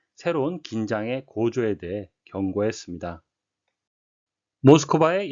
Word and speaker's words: Moscow: 긴장의 고조에 대해 경고했습니다 모스코바의 영어식 발음은 모스코 되겠고요 크린의 영어식 발음은 크린이